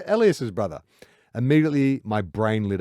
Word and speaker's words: Elias: How do you pronounce his name? Not Elias. Elias. Elias's brother.